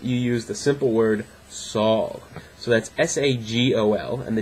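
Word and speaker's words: sağol: punctuation but that that when you have a g like that it basically makes that g silent and extends the length of the vowel preceding it so s-a-g-o-l it's not sagal it's sol just a long a a long a and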